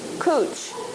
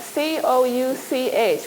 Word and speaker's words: couch: it this is called it's from the French it means it's cooch and it's spelled c-o-u-c-h what does that spell see what else does it spell and that we say in English couch and what this couch what